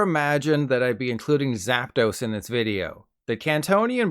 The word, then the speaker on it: Zapdos: But then I watched Seadog VA do a Nuzlocke and he called Zapdos Zapdos. It's Zapdos.